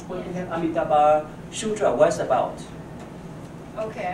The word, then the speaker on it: Amitabha: Amitabha? Amitabha.